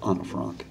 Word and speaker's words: Anne Frank: Millie Perkins, who played Anne Frank in the film version of The Diary of Anne Frank, or Anna Frank, as the theater teacher in me likes to pronounce it.